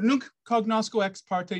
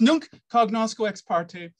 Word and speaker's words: nunc cognosco ex parte: model now don't worry it's called nuke cognosco ex parte nobody speaks latin anymore really so the pronunciation really doesn't matter but it's nunc cognosco ex parte and it means now